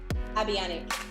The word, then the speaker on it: Abianac: oh i'm gonna say your na your last name wrong tell me cat say your last name abiani thank you uh avionic um she's a business coach uh she helps